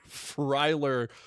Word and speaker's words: Freiler: Freiler, like Fry and Skyler, that's like a white